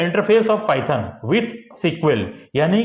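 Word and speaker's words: SQL: फिर है structure query language यानी कि सीक्वल जिसको बोलते हैं हम लोग। एसक्यूएल और इसको उच्चारण हम लोग सीक्वल सीक्वल करते हैं।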